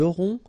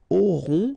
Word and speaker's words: auront: Then ils auront, final T not pronounced, O-N together, on, auront, okay, and then the link between the two.